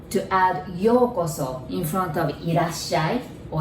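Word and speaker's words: ようこそ: So that word is yokoso. You notice there's OU there. So you pronounce it like O.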